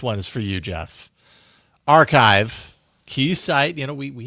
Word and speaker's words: arXiv: we sometimes do Jeff's archive showdown. I think we called it for no great reason. Um, archive is a site, and by the way, it's spelled arxiv, but it's a a key site for academic research.